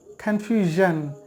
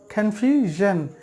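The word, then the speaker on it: confusion: ভুল হয়ে যাচ্ছে তাহলে জন আর ঝন এ দুটোর মাঝামাঝি একটি শব্দ উচ্চারণ হবে সেটা হচ্ছে জন কনফিউশন কনফিউশন যারা আরবি মাখরাজ নিয়ে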